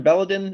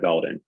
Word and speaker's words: Belden: do and and sir is it mr belladon am i pronouncing that correctly yes my name is belden good morning great good